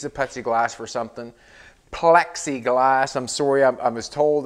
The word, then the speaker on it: Plexiglas: she said you know pepsi plexiglas is pronounced with an l and i'm just saying it the way i say it it's pepsi glass plexiglas whatever it doesn't